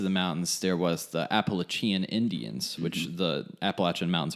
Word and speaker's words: Appalachian: very base of the mountains, there was the Appalachian Indians, which the Appalachian Mountains are named after. And so the way that you say Appalachian is the way that we say it.